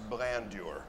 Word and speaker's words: blandeur: It rhymes with grandeur, but it's blandeur.